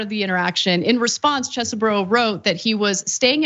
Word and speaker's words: Chesebro: And I'm sure Chesebro is the way to pronounce it, but anybody who decides to represent Trump, I'd like to pronounce his name Cheesy Bro going forward.